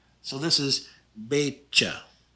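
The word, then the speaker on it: beetje: this is pronounced meisha the tj is pronounced just like a ch in english so this is betcha not baked cha you don't want the tea there anymore you just want be cha the k sounds just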